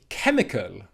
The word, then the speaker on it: chemical: Word number 4 is chemical, chemical, chemical, okay? It's at the end of the word, kul, kul, kul.